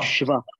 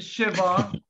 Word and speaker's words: shva: It is shva. Shva. Come on. Lahat na shva. Tayo mag-unmute, please. Because this is also a very important vowel sound. This is shva. Shva. Shva. It is not shiva.